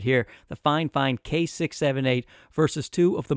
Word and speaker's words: FIFINE: did send it and that is how you pronounce the company's name by the way fine fine in my correspondence with them that's what they